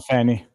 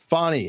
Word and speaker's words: Fani: is bring on the fanny on the the famous funny so funny it's it's spelled like Danny but I guess it said funny yeah because everyone was pronouncing it Fanny it was it was